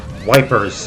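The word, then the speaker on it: Ypres: 22nd 1915 ye fell dubbed wipers by British troops due to its difficult pronunciation the Belton town of yis was a key strategic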